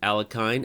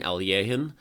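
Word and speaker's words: Alekhine: This was Al Johan, Alekine, Alyehin, Alyekin. There are literally like 4 different ways to pronounce that name, and they're all legal.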